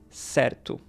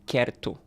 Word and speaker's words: certo: If we have the word certo, this is pronounced certo, not querto, for example, even though it's the C, because it's the C plus E, which makes the S sound.